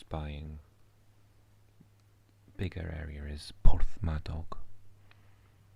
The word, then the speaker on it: Porthmadog: And Cricieth is close by, and bigger area is Porthmadog. Porthmadog.